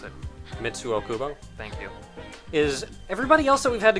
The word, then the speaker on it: Mitsuo Kubo: So now what I was actually going to mention before is all the other people, You pronounce it. Mitsuo Kubo, Thank you.